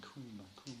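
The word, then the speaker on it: cwm: And it's pronounced C-O-O-M, cum, sort of, cum.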